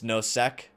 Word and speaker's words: Nosek: It's Nosek.